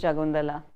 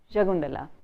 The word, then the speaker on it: Shakuntala: Chennai, her name was Shakuntala, but whenever I would address her as Shakuntala, she'd say my name is Jagundala, and she would correct me, Jagundala.